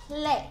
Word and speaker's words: Clé: 在前面 Lé Lé，之后再加个 K，由喉咙发出来的 K 声在前面 Clé Clé。第二个字就是 the，咁首先就要识发 e 呢个音啦，e，之后就加个 d